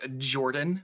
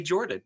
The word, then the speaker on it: Jorphdan: uh yeah hello everybody my name is jordan with a silent ph in the middle uh so it's it's written oddly but uh it you just say jordan it's just a regular great name where did the ph